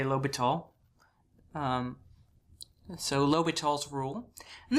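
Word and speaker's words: L'Hôpital: but it it's my understanding that this is pronounced lital all right which I sort of just say lital um so lal's Rule and this is a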